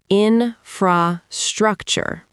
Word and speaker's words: infrastructure: The stress here is on the third syllable. In-fra-structure. Infrastructure.